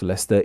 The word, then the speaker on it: Leicester: The state gives the US its very own Cardiff, Leicester, Liverpool, and Southampton. I was happy to see that New York's Leester is pronounced the same as ours.